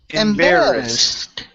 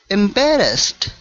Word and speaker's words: embarrassed: embed it's embar Ed embarrassed embarrassed embarrassed okay almost almost watch that R okay so we want to curve the tongue back to pronounce the r there so it's embarassed embarrassed